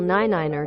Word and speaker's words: niner: five five 6 normal 7 normal 8 normal 9 ner 10 normal if you enjoyed this video please